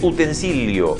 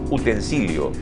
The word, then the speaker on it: utensilio: Utensilio. Nosotros lo decimos así, los rioplatenses, colocando esa Y, pero se escribe como domicilio. Miren cómo se escribe. Es utensilio y hay que decir utensilio.